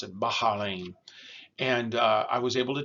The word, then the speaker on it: Bahrain: They pronounce it Bahrain.